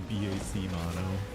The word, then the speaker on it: BAC Mono: have been dead there it's technically pronounced the BAC Mono yeah it's definitely one